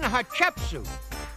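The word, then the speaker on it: Hatshepsut: boy it was Queen hachetsu and if you say her name quick enough it kind of sounds like hot chicken soup at least that's the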